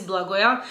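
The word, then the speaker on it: Blagoja: but his name is blagoya in my culture we say that the j is a y so it's like instead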